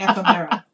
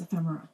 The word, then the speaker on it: ephemera: It's not ephemera. It's ephemera.